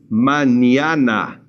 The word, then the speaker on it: mañana: This N will remain just like an English N, and this one becomes a ña sound. So try to say this. Mañana.